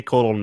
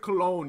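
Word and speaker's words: Colón: I have not watched any Colon match, but I still prefer Carlito. Carlito is awesome. I like how you pronounce it. You don't pronounce it Cologne, you pronounce it colon.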